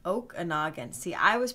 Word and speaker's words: Okanogan: Oh, it's pronounced Okanogan. See, I was pronouncing it like you would in Wisconsin. Okanogan? Okanogan? You know, we pronounce it like the Indian name.